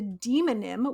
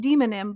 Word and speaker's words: demonym: probably demonym rather than demonym um demo like demographic exactly yeah I assume